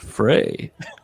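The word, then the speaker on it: Frye: Uh, it's pronounced Frey.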